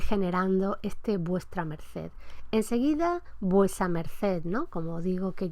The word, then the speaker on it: vuesa: abreviatura, etcétera, y que todo el mundo pronuncia vuesa. Es decir, ese grupo vuestra, STR, ya la lengua oral de principio del XVI lo ha simplificado en vuesa.